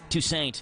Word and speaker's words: Toussaint: You know who Alan Toussaint is? Toussaint. There we go. Patrick's got me. He's straightened me out.